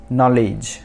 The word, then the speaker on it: know: नो मतलब जानना कुछ, तो नो वो यहाँ पर फर्स्ट लेटर जो K है वो साइलेंट है, नो।